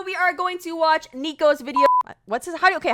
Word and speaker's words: Niko: know this sounds wait is it nico bro uh how do you say it how do you say it nico it's nico crazy but please just let